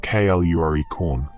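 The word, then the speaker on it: Clurichaun: The Clorishorn, whose name is usually pronounced Kluricorn, is in many ways the leprechaun's dark twin.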